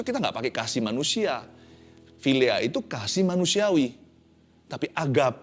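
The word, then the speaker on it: philia: kasih yang sempurna tapi kasih filea bacanya filea tapi ejaannya PH i l a kasih Filia ini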